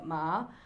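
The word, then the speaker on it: 马: In the horse is pronounced ma, and then it's like a riddle.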